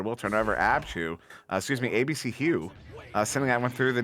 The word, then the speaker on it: Hugh: And actually, if you're pronouncing his name that way, which is actually the proper way to say his name, it's ABC Hugh. His name is Hugh.